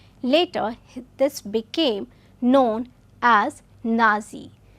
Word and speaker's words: Nazi: this became known as nazi the being the first part of the german way of pronouncing the word national he established a paramilitary